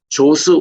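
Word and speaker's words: Djoser: 그런데 최초 피라미드가 어디냐면은 사왕조 때에 있었던 초창기 왕인 조스 왕입니다. 여기에 DJOCE라고 적은데 읽을 때는 D가 묵음이에요. 그냥 조스라고 그럽니다.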